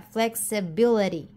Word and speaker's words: flexibility: como flexibility se pronuncia flexibility si la t nuevamente no suena sino que es como una r suave perfecto vamos a ver